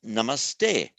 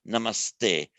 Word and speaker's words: namaste: the t meaning to thee to you becomes namaste so the root about the sub dot at h becoming an s before a t so i say i strongly suspect that most of you knew the expression namaste that's because of becomes an s before t